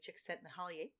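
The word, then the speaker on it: Csikszentmihalyi: and uh the forward is by uh mahalia chick sent me holly and i said that only to show off that i know how to pronounce his name it uh which is that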